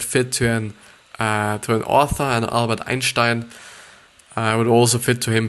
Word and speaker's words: Einstein: and were introverts, like Albert Einstein, or actually Albert Einstein, to pronounce it actually correctly, Bill Gates and J.K.